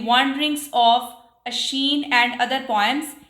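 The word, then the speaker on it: Oisin: collection the वंडरिंग्स ऑफ अश्शीन and other poems इसको हम अश्शीन pronounce करेंगे 1889 नेक्स्ट चलते हैं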